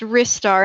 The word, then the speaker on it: Ristar: Ristar sounds weird to me. It's like the star of rice. It sounds more like a thing that exists than Ristar, which just sounds like a wrist something.